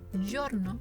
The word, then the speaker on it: giorno: Giacca, que significa chaqueta, giorno, que significa día, y giudice, que significa juez. Bien, recordemos los sonidos: giacca, giorno y giudice.